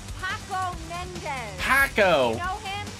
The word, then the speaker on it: Paco: very awkward that's me I see Paco it rhymes with taco okay oh good I